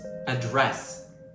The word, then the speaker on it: address: The correct pronunciation is address. The stress is on the second syllable.